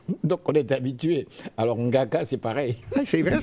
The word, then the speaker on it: Ngaka: Ngaka. Ngaka. Comme Nguyen.